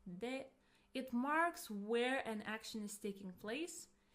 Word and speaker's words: で: It's pronounced as you have already heard, de.